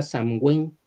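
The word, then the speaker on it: Samhain: Sam h a i n Sam ain se pronuncia samin y tiene ese nombre de ahí viene la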